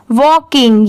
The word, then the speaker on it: walking: ये है वॉकिंग, WALKING वॉकिंग। यहाँ पर VAL वॉल की साउंड आ रही है और KING किंग, वॉकिंग।